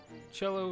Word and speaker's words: cello: Cello is more bellowish, a violin is a higher tone. I thought so. Cello rhymes with bellow.